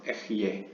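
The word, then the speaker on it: Ehyeh: 예를 들면 the name Ehye는 이제 pronounced Ehye.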